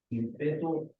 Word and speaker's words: ímpetu: Peso, calor específico, densidad, ímpetu o impulso, campo magnético o energía. Muy bien. Ímpetu tiene acento en la I.